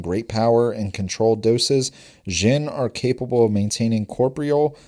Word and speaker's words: Xen: Yeah, Xen. The Xen are one of the more curious groups of people in the modern world, possessing great power and controlled doses. Xen are capable of maintaining corprial forms for longer